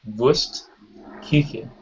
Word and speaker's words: Wurstküche: in German is called the Umlaut, and so you say that as Ü, and so it's Wurstküche.